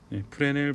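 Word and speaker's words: Fresnel: 네, 여기 S가 있습니다. 묵음인데 푸레넬 방정식 이렇게 부릅니다.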